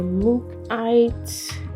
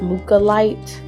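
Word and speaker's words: mookaite: It's nothing crazy, but this is some of the Mookite. I've also heard it pronounced Mukalite, so let me know how y'all say it. I alternate between the two.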